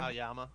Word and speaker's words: Aoyama: Aoyama. Oh, Oyama.